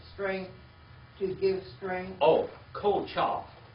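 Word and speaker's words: כֹּחָהּ: Oh, Kochah. How do you spell that? K-O-C-H-A-H.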